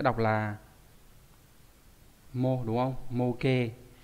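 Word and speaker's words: 模型: Mô hình nó sẽ đọc là mô đúng không? Mô kê.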